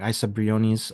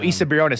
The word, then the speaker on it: Isa Briones: So the character, the actress, um, I might get her name wrong. Isa Briones, that Oh, Issa Briones, yeah, Issa, thank yep.